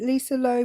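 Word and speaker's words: Loeb: the comments said Lisa is it Lisa Loe or Lisa Lo I don't know how you say it stay which is lobe yeah I thought it was lobe which is a great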